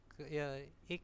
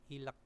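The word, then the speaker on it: 읽: Terus darasinan yukesireso sinmunel Ik semnita ya ini bacanya bukan ilek tapi Ik ya yang dibaca itu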